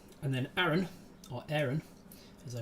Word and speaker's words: Aron: got an end right and then Aaron or Aaron as I pronounce it um my middle name a-r-o-n uh